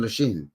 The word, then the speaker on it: Lachine: Lachine, French pronunciation, Lachine.